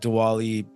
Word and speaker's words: Diwali: her and she invited us to her like dwali uh that's how you pronounce it right yeah diali yeah Diwali yeah uh celebration um on the first so